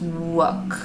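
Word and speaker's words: 욱: So it says the Korean title is pronounced Wook.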